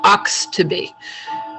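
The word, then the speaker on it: Oxtoby: um i'm i'll say it and then i'll spell it her first name is rasine r-a-c-i-n-e and her last name is ox to be o x t o b y thank you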